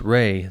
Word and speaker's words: Ra: Ta at Memphis, Atum at Helopoulos, and Ra, sometimes pronounced Ry the sun god.